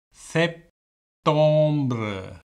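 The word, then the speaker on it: septembre: அப்போ இதில் கடைசியில் தே வருது, அதை உச்சரிக்க வேணும், ஊத். அடுத்தது செப்டம்பர் செப்டம்பர் என்று வருது, என்ன செப்டம்பர்.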